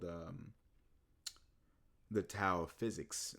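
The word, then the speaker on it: Tao: was called um the tow of physics. the T AO pronounced DAO depending on where you are and um by FOV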